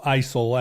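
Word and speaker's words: IJssel: soon uh but so i j is pronounced you know isil and I'm sure there's some small pronunciation of it that I'm not quite getting we'll get letters um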